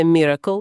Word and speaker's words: MRKL: Про концепцію, яка це уможливлює, системи MRKL. Вимовляється Miracle, як диво англійською.